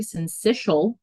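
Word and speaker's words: syncytial: heard about RSV and I wrote out how to pronounce it because it looks a little tricky so it's respiratory sensial virus so what is it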